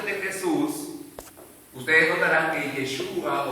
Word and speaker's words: Yeshua: De hecho, el hebreo se desprende del arameo y se pronuncia, traducido al arameo, Yeshua. Yeshua.